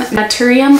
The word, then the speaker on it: Naturium: This is the Glow Getter Multi-Oil Body Wash from Naturium, I believe is how you say it.